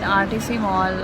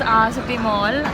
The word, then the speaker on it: R City Mall: So we are here in RTC Mall, and okay, he's correcting me. What is that? City Mall. It's R City Mall, and I pronounce it wrong every time.